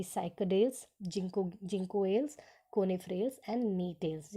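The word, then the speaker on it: Gnetales: सो इनको 4 ऑर्डर्स के अंदर क्लासिफाई किया गया है, जैसे कि साइकोडेल्स, जिंकोएल्स, कोनिफ्रेल्स एंड नीटेल्स. यहाँ जी साइलेंट होता है तो इसीलिए नीटेल्स कहते हैं.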